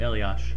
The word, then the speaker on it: Elias: pickpocketed uh what's what's kelly clarkson to patrick elios i'm not a hockey person please correct me no no you said it right elias one timer oh that was it was more